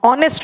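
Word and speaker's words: honest: ऑनेस्ट में एच is silent, ओ आ रहा है।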